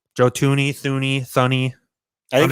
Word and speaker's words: Thuney: So they decided to go out and spend big on Joe Thuney, who they gave a 5-year, $80 million contract to.